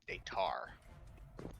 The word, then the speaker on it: Daytar: Daystar or Daytar? Daytar.